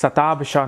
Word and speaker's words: Shatabhisha: I don't even know how to pronounce that thing. It's satab bisha nakhatra.